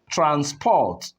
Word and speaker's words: transport: You notice that the first syllable takes the higher stress. Transport. And the second one becomes what? Transport.